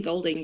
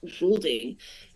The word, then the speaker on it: Goulding: I've been saying Goulding, but I've realised that is the incorrect pronunciation. It's Kent Goulding, and he's joining us from the States.